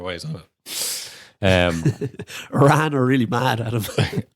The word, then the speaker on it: Iran: he's on it um Iran are really mad at him it's it's not Iran it's Iran I can't believe that